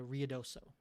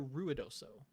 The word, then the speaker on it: Ruidoso: down to rio doso is it riodoso or ruidoso because of how it's spelled ruidoso it's kind of like a tomato tomato thing um yeah it doesn't i think i think either ore works it does to me